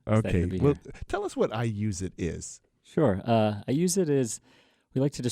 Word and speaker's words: iuzeit: And it's got a cool name, iuseit. Okay, spell it for us. iuzeit. It's like the phrase I use it, but with a Z instead of an S.